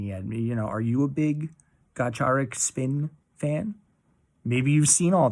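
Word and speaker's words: Gacharic Spin: Band name is pronounced somewhat like Gacharik Spin.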